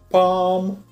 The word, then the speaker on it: palm: Обратите внимание, что буковка L в этом случае не читается, она просто исчезает, остается только звук A. Естественно, у нас будут такие слова, как palm, calm, almond и так далее.